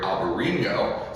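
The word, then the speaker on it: Albariño: combination of the grape Albarino, spelled Albarino and Enye if we were in Spain, but in Portugal it's spelled a little bit different.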